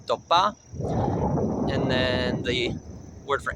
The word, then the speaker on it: Tópa: 4, Tópa, somewhere between a T and a D, Tópa.